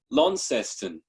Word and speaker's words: Launceston: loud casting lounge how do you say it launceston launceston tasmania new york times